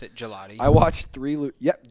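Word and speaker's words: Gillotte: I watched three Louisville games this year and they all pronounced it Gelotti. I watched three Yep. Gelotti.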